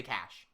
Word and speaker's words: cache: I usually say cash because I'm American speak and whatnot. Cache is fine as well if you want to be more like near the French pronunciation, which is I think where it originates from.